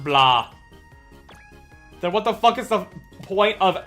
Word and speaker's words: Blanc: I am still gobsmacked that like Svent and and Neo said that Blanc is actually just pronounced blah.